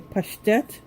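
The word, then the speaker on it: паштет: This is the pate, or as Russians say, pashtet.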